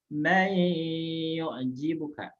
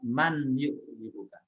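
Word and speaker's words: مَن يُعْجِبُكَ: Contoh cirinya nun sukun bertemu dengan ya, maka dibacanya mayyu'jibuka, bukan dibaca man yu'jibuka.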